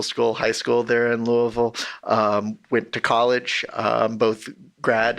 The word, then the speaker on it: Louisville: up in Louisville Kentucky or is people from the area would say Louisville make sure to say it like you have a mouthful of mashed potatoes or something but I grew